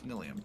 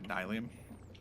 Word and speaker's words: Nylium: No, it's Nilium. Nice. Now that I think about it, it's probably Nylium. It's with a That's how I Y. pronounce it. Yeah. Yeah, I'd say Nylium probably.